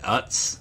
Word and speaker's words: Utz: But I can't I'm not sure how you pronounce the brand of chip, but it's like UTZ Utz or Ootz.